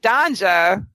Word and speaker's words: Danja: shacked up with with Danja which does rhyme with ganja Mike I noticed that